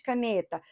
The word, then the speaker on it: caneta: Qual é a sílaba tônica de caneta? Caneta. Ne.